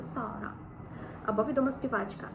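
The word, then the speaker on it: Zara: маємо сета сета тут Зверніть увагу що це не з як це як воно вимовляється у на нашій мові з це с с наприклад відомий магазин зара Так це буде Сара або відома співачка Сара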